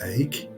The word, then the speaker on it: Eyck: name of Van Eyck, which is pronounced Eyck and is Dutch for oak.